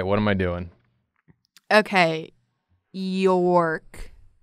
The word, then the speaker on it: York: Okay, York. That's how you pronounce your name, right? York? It's one syllable.